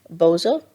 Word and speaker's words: Bozo: How do you say it? Bozo. That is how you say it.